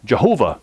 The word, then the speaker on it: Jehovah: or you could also pronounce it where the Y has a J sound and you could call him Yau Jehovah Jehovah Jehovah so Yahweh